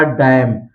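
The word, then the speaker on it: damn: गया आटम इसी तरह डैम डैम में भी आप देख सकते हैं एम के बाद एन आया है एम एन साथ में है तो यहां पर न का उच्चारण नहीं किया गया है सीधा पढ़ा गया है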